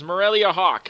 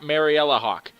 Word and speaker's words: Marellia Hawke: Republic with Morelia Hawk I mispronounced it last time but it is Morelia Hawk and not Mariella Hawk and as you can